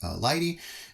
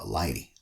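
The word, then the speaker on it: lighttpd: about lighting okay so you write it the way I've written it but you pronounce it uh Lighty or that's how it's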